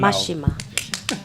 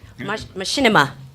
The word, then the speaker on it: Machinima: Mashima. Mashima, thank you for giving me the pronounce. See? Machinima. Yeah. Machine and cinema. Cinema.